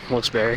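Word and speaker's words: Wilkes-Barre: more close to wilbury and that's how you pronounce it wilberry here it's about an hour and a half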